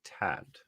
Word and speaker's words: Tadt: I played into Eric Tad. It's TADT. I don't know how to say that. That Tad. name is like hard to pronounce on purpose, I swear.